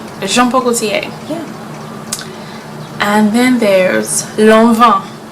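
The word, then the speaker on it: Jean Paul Gaultier: CA that's easy right Jean Paul Gautier shampoo jean-paul Gaultier jean-paul Gaultier and then there's alone huh you don't want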